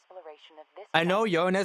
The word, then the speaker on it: Uranus: Uranus is like proper way to say it. To me, it's always going to be your anus.